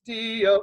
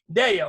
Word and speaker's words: Deyo: Gloria in excelsis Deo. No, sorry. Sorry. Deyo. It's Deyo, but my name is Deyo. I got it backwards.